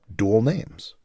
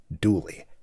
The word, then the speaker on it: dually: a first name, so dual names, or Dooley. Like a dually truck with its double sets of back tires. Since DJ rarely heard a dually pickup pronounced properly, he stuck with the more popular vernacular of Dooley.